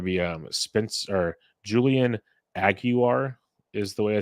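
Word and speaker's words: Aguiar: join the rotation uh you don't pronounce the L or there is no l there's there is no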